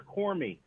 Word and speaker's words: Cormier: That's kind of right, but my ancestors are Cormy, Cormey. Cormy? My says who? My paternal grandmother changed our name to Cormier back in the 40s.